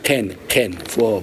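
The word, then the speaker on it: קן: La bonne prononciation, c'est Ken, par le fond de la gorge.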